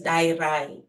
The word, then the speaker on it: Dayirai: the accent okay so the actual pronunciation of my name is di so the D sound is a quiet a soft D it's a Shana name originating in Zimbabwe so yes okay all